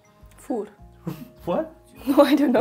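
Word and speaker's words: vier: Voer. What? No, I don't know. Is that actually, how do you say it in Dutch? Fear.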